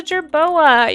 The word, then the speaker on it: jerboa: maybe it eats the gerboa. Like, I didn't even know. But it's a jerboa, you guys. That's just how you say it. I just said it wrong.